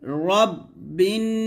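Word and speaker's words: رَبِّ: কে ধরবে বা নুন জের বিন গুন্না হবে রব্বিন আমরা বলি রাব্বিন বলি তো এখানে দেখুন লেখা আছে রব্বিন র তো আপনারা রাব্বিন বলবেন না কুল আউজুবি রাব্বিন নুন আলিফ জবর না সিনসি আউজুবি রব্বিন যদি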